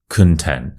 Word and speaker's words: content: con content content so don't get this one mixed up with the word content which is what you're consuming right now those are two different words with different pronunciations so this one is